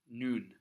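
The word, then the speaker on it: νῦν: always stay the same like the word for now noon Erasmus pronunciation if you ever see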